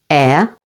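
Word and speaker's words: heir: H is always silent at the beginning of these words. Only. Air.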